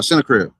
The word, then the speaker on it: Sennacherib: Uh uh Sennacherib. And when Hezekiah saw Sennacherib was coming Sennacherib, remember Sennacherib, that Hey, that was talking crazy.